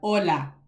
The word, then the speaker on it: hola: where we have hola please do not walk around here saying hola and it's all open and oh oh oh do you hear the difference between oh versus o hola hola that simple thing hola versus hola hola hola amigo hol